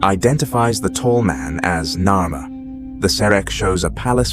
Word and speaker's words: Narmer: The first figure is of a catfish pronounced nar and the second of a chisel pronounced mare in ancient Egyptian.